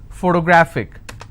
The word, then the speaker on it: photographic: i have another word photographic somebody has a photographic memory so what are the syllable break it's four toe bra thick and since it's ending with ic i will stress on grab so whatever is the